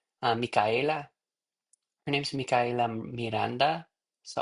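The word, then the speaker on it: Micaela: I I believe she pronounces her name a little differently like Mika. Mika. And And pronounce the A. It's M I C A E L A. Mika.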